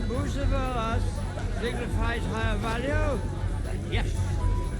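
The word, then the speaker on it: Bucephalus: What kind of name is Bruce Phallus anyway? It's pronounced Bucephilus.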